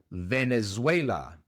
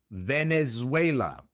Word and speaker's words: Venezuela: En inglés, Venezuela se pronuncia Venezuela. Venezuela. La V es una V en inglés, es labio dental.